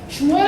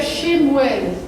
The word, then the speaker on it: Shemuel: Shmuel é Samuel. Então, lendo no hebraico seria Shemuel. O pessoal fala Shmuel, engole isso. Então, tem a diferença de como se pronuncia.